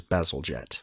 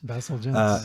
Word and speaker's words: Bazalgette: So real quickly, you were correct with the pronunciation. It is Bazalgette. Bazalgette.